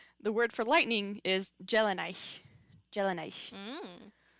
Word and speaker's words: Dea: D's D's often at the beginning of a syllable have kind of a J sound.